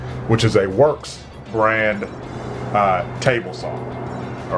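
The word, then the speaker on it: Worx: I'm also loving the Works brand products. Now this says Rockwell, but it's made by Works. It's the same company. Works is spelled W-O-R-X.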